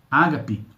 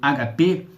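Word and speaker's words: ἀγάπη: O amor de Deus, que é o amor ágape, ou HP, como se genuinamente pronuncia no grego, o amor de Deus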